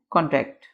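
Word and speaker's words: contract: Next है जी कॉन्ट्रैक्ट, कॉन्ट्रैक्ट, इसको हमने कैसे प्रोनाउंस करना है, कॉन्ट्रैक्ट। जोर देना है फर्स्ट वाले पे।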